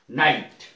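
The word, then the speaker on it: night: का उच्चारण नहीं होगा नाइट एन आई जी एच टी नाइट इसमें जी का उच्चारण नहीं है ट एट माने आ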